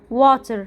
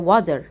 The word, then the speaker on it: water: لو حرف التي جه ما بين حرفين متحركين بقلب صوته لحرف الدي. زي هنا الكلمة دي لو جيت قلت لك اقراها هتقولي water، هقول لك لا هي water water.